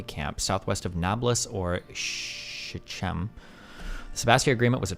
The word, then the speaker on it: Shechem: The C is silent in Shechem.